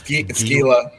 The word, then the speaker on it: Gila: It's Gila.